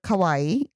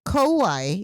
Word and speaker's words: kawaii: people know the word kawaii means cute but it's Kawaii so it's always nice to pronounce the last e kind of like Kawai yeah because if you say kaai that means scary so you don't want to